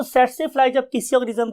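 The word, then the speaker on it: tsetse: हम बोलते कैसे हैं इसे हम बोलते हैं स्टूडेंट्स से से फलाई सेट से फ्लाई बिकॉज के टी is silent over here हम टी नहीं बोलते तो वर्ड इ सेट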